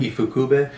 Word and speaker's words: Ifukube: How do you pronounce his last name? Ifukube. Ifukube.